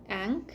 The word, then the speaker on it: Ankh: just word salad yeah because it's a-n-k-h so like an actual like Egyptian word I just I don't know how to pronounce it I think it's ankh yeah or yeah yeah